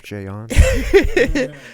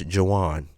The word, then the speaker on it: Jayuan: see he says it I told you a lot of people don't pronounce my name right right I've always said that right yeah a lot of they they think it's Jaan I even got Chef Juan before actually listen just